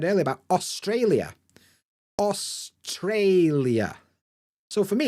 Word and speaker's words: Australia: and you can see the apostrophe is before Trey so I know that that's where the stress is Australia good and here we